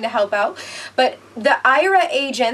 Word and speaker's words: Aira: Today, my video is going to be about Aira, which is A-I-R-A, but they pronounce it Aira.